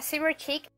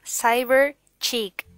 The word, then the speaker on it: Cyber Chic: me encanta el nombre se llama server chic no no pero sí pero se llama saber chic la pronunciación es saber es lo más fácil